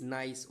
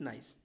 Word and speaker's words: gneiss: This is gneiss. Okay, its pronunciation is gneiss.